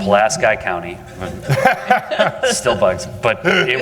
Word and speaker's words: Pulaski: If you're Polish, I know it's pronounced wrong, but that's how they pronounce it in Indiana. Pulaski County.